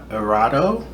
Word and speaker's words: Erato: Next on our list we have Erato. Pretty sure it's not supposed to be pronounced this American.